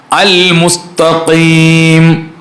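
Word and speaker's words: المستقيم: ശരിയാക്കി ഓതിയാൽ പോരാ അവിടെ നമ്മൾ അലിഫ് ലാമും കൂടെ ഉച്ചരിക്കണം അൽ മുസ്തഖീം അതാണ് ഞാൻ പറഞ്ഞത് കാരണം അലിഫ് ലാം ഉള്ള പദങ്ങളെ അലിഫ് ലാമോട് കൂടെ തന്നെ മടക്കി ഓതണം അല്ലെങ്കിൽ ഫാത്തിഹ ശരിയാവൂല കാരണം അലിഫ് ലാം മാത്രം ഒരു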